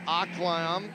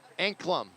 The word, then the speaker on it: Anklam: And again, that looks like number 27, Madeline Aklam. I hope I'm pronouncing that right. Not sure. I'll have to ask Howard. How do you pronounce it? Anklam? Anklam. Got it.